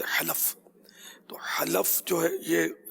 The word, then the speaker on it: حلف: دوسرا سوال کا حصہ تھا کہ حلف صحیح تلفظ ہے حلف.